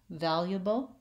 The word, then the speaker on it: valuable: in the dictionary and even though that's not incorrect to say valuable you don't hear Americans saying it and so your brain